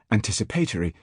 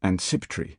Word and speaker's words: anticipatory: schoolmaster some years ago do his best to pronounce anticipatory, accentuating its first syllable, a difficult task, even with the number of syllables halved, and a noise like anciptry attempted.